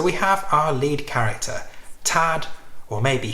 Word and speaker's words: Thad: So we have our lead character, Tad, or maybe Thad Beaumont. It's spelt T-H-A-D. I've heard people say Thad, I've heard people say Tad. I'm going to say Tad because I'm not very good with TH sounds.